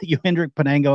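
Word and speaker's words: Yohendrick Piñango: Panengo, Yohendrick Panengo, I think is how you pronounce it.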